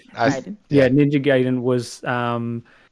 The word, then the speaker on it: Gaiden: I was saying it wrong before. Gaiden.